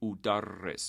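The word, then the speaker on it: أُدَرِّس: I say udarris. Notice that I use dhamma on the first syllable instead of fatha like we usually do with regular Form 1 verbs.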